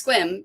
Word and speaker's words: Sequim: It's Squim, but is that how it's spelled?